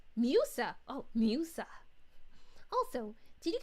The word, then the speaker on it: Musa: Note, her name is pronounced Musa.